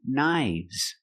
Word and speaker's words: knives: 1 knife, 2 knives. The F changes to a V sound. V, v. Knives. 1 wolf and 2 wolves.